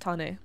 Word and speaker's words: Tane: Yeah, my name is actually correctly pronounced as Tane, not as Tane. Yes, Tane. It's a Maori name.